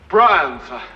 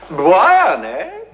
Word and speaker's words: Brian: Life of Brian what is your name je Brian Brian no no Brian so what does it sound